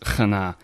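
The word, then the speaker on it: Chana: it's C H A N A and it's pronounced kana.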